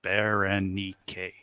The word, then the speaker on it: Berenike: Four syllables. Four syllables. Berenike. Berenike.